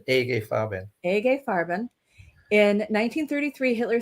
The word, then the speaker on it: IG Farben: who are sticklers alexis it's actually a gay fabin that's how a german would say a gay farben in 1933 hitler said